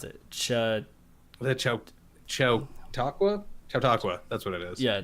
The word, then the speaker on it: Chautauqua: How did you pronounce it? The Chautauqua? Chautauqua, that's what it is.